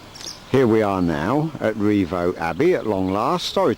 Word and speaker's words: Rievaulx: that cottage backs onto I'm gonna call it Revo I think that's how it's pronounced but this village is called Revo the village of Revo I suppose I'm pronouncing